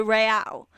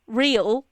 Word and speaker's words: Real: The thing is there are some some words that I'm gonna sound like a dick if I don't try and pronounce them with a slight Spanish accent. For example, they traveled to Mexico City along the Camino Royale. Right? If I was saying real, which is how I would pronounce that word in English, it sounds stupid.